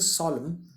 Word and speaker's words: solemn: देखिए SOLEMN, एम और एन इकट्ठे आने पर लास्ट में अगर एन आता है तो एम ही प्रोनाउंस किया जाता है, एन साइलेंट हो जाता है. So this is सॉलम, strange, और सब सीरियस नज़र आ रहा था.